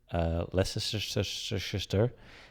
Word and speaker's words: Leicester: No one can pronounce it. Leicester, Leicester.